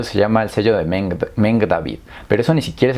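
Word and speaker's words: Magen David: Y ese sello es muy peligroso porque en sí la estrella de Meng David, que, bueno, no es estrella, es la Meng David, que así se pronunciaría, básicamente está alineada con los 12 vértices del planeta.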